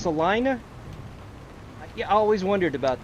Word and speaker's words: Salina: Oh, it's pronounced Salina.